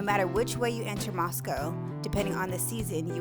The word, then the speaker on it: Moscow: to show you moscow idaho and yes it's pronounced moscow not moscow moscow is located in northern idaho along the